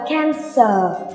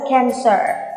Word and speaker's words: cancer: nói gì không nhỉ bất cứ khi nào mà âm r đứng gần một nguyên âm tức là r đứng đường Y này thì tụi mình phải làm gì cong lưỡi lên đừng đọc là cancer nha Từ vận của cô là cancer Ok Đọc lại nào